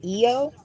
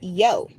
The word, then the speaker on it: Io: a long O, so Eo, Eor, I don't know, somebody say it, or a single syllable with the I becoming Latin consonant pronounced yo.